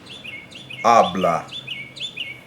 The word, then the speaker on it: habla: For example, habla, he or she speaks. Habla, the natural stress is on that first syllable, which is our first A in that word.